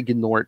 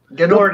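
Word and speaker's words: G'nort: Green Lanterns 9-12, a guy and his, I say Gnort. You know what? don't care if people say the G is silent. Gnord is funny, more fun to say. It is. It's a made-up word.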